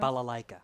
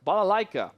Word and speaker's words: Balalaika: Balalaika. Balalaika. I put too many la-la-la-la-las when I said it.